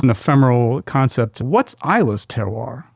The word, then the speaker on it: terroir: What's Isa's teroir? How would you describe it concisely to someone who's either a whiskey lover or someone who's completely ignorant? It's a French term. That's the French pronunciation.